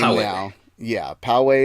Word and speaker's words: Pōwehi: name oh wow yeah Poway is the name a black hole has a name not not the area in San Diego no not the pot not that it's spelled powa eh I it's the Hawaiian phrase